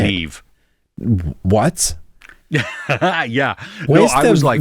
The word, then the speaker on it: Niamh: Well, how do you say Neve.